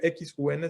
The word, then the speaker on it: Xun: Se escribe XUN, se dice Xun, y bueno, pues fue